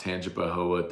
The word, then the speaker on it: Tangipahoa: no punctuation he puts it's pronounced Tangipahoa does think Scott is